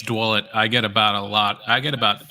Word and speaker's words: Dwulet: Please, I didn't even attempt to pronounce your last name. Yeah, it's Dwulet.